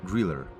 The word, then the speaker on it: Grille: The German word Griller means cricket, and the letter E at the end is pronounced as an R, Griller.